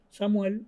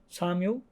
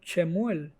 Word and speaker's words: Samuel: En español Samuel, en inglés Samuel y en hebreo Shemuel, pero es la misma persona.